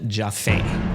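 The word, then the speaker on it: Joffé: from the future here it's pronounced Roland jaffaine but I'm gonna say Jaffe for the rest of this video so I hope you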